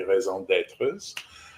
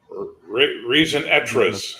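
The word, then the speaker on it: raison d'être: There are specific villainous callings that your character can have, which are like basically raison d'etres. Reason d'etres.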